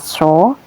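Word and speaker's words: صَ: Kemudian ini huruf sud diharakati fathah maka dibaca sho.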